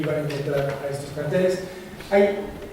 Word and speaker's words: carteles: Pues son una serie de organizaciones criminales que se le han conocido como carteles. Curiosamente en México se dice cárteles, se le pone este acento que viene de la pronunciación en inglés, pero bueno, aquí están los carteles o cárteles.